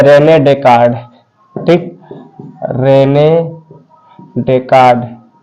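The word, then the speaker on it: Descartes: तो इसका पिता है रेने डेकार्ड, ठीक, रेने डेकार्ड, डेस्कार्ट्स, एस साइलेंट है, ठीक, इतना रेने डेकार्ड हो रहा है, डेकार्ड, ठीक, रेने डेकार्ड, ये इसका फादर है, ठीक है।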